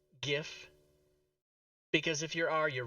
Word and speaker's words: GIF: First reason is the creator of the GIF says it's pronounced GIF, and he's dead, so you have to honor his wishes.